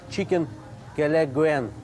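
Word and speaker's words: chicken kelaguen: Чикен келегвен, нет, чикен келегвен, вот так это произносится.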